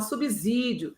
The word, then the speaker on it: subsídio: Da mesma forma, subsídio se pronuncia com som de S e não de Z.